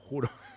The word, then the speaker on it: hurón: Jurón. Hurón. Se escribe con H, pero veo que se pronuncia con J. Hurón.